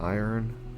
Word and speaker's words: iron: Yeah, it seems like the usual pronunciation then, I guess, is swapping the vowel and consonant around in the middle.